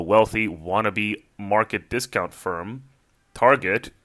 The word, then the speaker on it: Target: wannabe Market discount firm Target facetiously pronounced in the French fashion as Target had purchased this issue